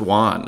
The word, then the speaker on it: Joan: like the Spanish surrealist it's pronounced Juan I always used to call it Joan Miro j-o-a-n so you see like